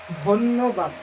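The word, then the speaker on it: ধন্যবাদ: And the word thank you in Bengali is dhanyabad. So you can see that for this chokola, this is pronounced as double no. So dhan, then no, dhanno, then ba a ba do bad, dhanyabad.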